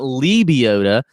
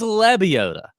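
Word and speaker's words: Lebioda: glover zach johnson hank lebiota if you're from cbs and you're listening to this it's not libiota it is lebiota ryan moore dr edmund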